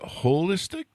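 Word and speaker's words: Wholistic: So do you pronounce it holistic? Yes, we do. Like the whole, because it's, we're looking at the whole picture, not just part of it.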